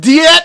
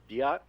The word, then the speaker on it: Diet: by germany and japan the game in english pronounces it as diet i had no idea